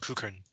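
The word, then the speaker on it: Crewkerne: But in England, or I should say in the UK, many place names are so old that their pronunciations have changed over time, even though the spelling has not. So the way that it is spelled is not always the way that it is pronounced.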